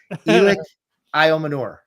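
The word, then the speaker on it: Elic Ayomanor: And I was like, ooh, the end of his name is Manure. But yeah, Elic Manure is how you pronounce the name.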